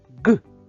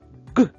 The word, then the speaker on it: ґ: промовимо його ще раз ґ ґ цей звук дуже схожий на звук г правда але вимовляється він набагато голосніше та дзвінкіше Ґ який він голосний